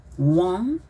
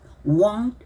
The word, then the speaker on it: won't: heart All my heart want believe want 하지 마시고 won believe won't believe that you have left